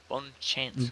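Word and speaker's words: bonne chance: Um, giving the name its French pronunciation for once, Bonnie Chance. Bon Chance.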